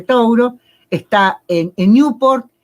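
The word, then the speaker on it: Touro: era tono pero bueno en inglés toro no se dice se dice tauro está en newport y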